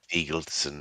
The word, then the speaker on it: Thigildson: It is Thigildson, it is not Thig.